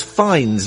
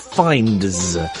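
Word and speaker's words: Fiennes: And it's fines, not finds.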